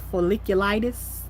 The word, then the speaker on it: folliculitis: It's folliculitis.